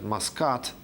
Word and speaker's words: Muscat: The capital of Oman today is pronounced as Muscat, but it used to be pronounced as it's considered to come from the Mosha root.